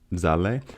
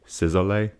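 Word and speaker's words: Szalay: Zale. It's spelled S Z A L A A Y. And I always want to say Sizzle.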